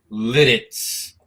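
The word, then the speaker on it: Lititz: I have a brand new bottle of Pennsylvania rye that I bought the other day out in Litz, Pennsylvania.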